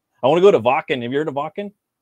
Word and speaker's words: Wacken: It's spelled Wake, Wacken, open air, but they call it Wacken because it's German.